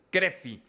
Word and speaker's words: CRFI: de Rehabilitación Física CRFI, así se pronuncia. Cref. Crefi, así es.